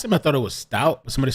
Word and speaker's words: Stauch: know that whole thing I pronounced it stouch that's incorrect how dare you Stout sounding Stout thank you so yeah